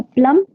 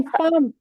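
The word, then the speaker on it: palm: ये जहाँ, प्लम। नहीं पाम, पाम, एल हथेली।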